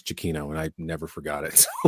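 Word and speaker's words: Giacchino: was is it jakino I said ginoo I I remember saying uh was how did I pronounce the name first Gino jino Gino Gino anyway I gave him a tape on my radio show once and he says no it's Chino and I never forgot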